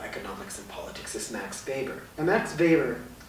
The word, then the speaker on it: Weber: in talking about economics and politics is Max Weber and Max Weber spelled with a W pronounced like a deed weber